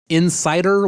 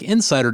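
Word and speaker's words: inSSIDer: issues like this to run a tool like Insider which is spelled i n s s i d e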